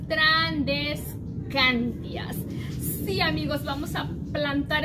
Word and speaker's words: Tradescantias: Si en el video no lo pronuncio bien, discúlpenme, pero es que yo le decía Trandescarias y es Trandescantias.